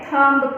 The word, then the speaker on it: thumb: तो नी की स्पेलिंग में, नी के वर्ड में हमारा के जो है वो साइलेंट है। नेक्स्ट हमें पिक्चर ड्रॉ किया हुआ है थंब का, THUMB, तो थंब में हमारा H जो है वो साइलेंट है।